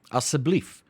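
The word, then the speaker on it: asseblief: plesir then we've got aseblif which is essentially a siblif which is please right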